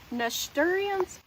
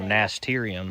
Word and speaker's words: nasturtium: I forgot to tell y'all I planted these nast- nasturtians? I don't know how to say it. Oh, nasturtium.